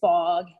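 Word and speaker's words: Phog: That is actually a pretty cool person, and his name is Fogg Allen. And we spell that P-H-O-G, Fogg Allen.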